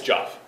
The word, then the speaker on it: Joff: Jeff and I were talking the other day. It's Joff. You changed your name? Not the whole name, just the pronunciation, not spelling. It's Joff now.